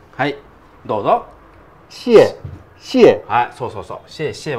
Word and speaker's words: 謝謝: なんだけどこれあのシエシえって読むはいどうぞシエシエはいそうそうそう